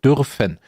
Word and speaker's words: dürfen: So dürfen. But that's the U with the 2 points, so that's not U, that's U. Dürfen.